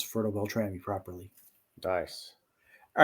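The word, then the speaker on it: Fertile-Beltrami: That's how I could pronounce Fertile Beltrami properly.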